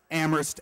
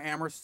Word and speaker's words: Amherst: am Heros am Heroes I know the H is silent I can't we'll figure it out a doctor who has worked tirelessly fundraising for amorist sports even the Quidditch